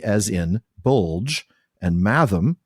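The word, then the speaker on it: mathom: For example, bulier has G as in bulge and math rhymes with fathom.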